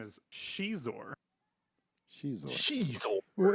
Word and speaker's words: Xizor: So apparently his name is Shizor. Shizor. Well, isn't an X pronounced like a sh in Chinese? In some words, yeah, it's pronounced a Z, like that.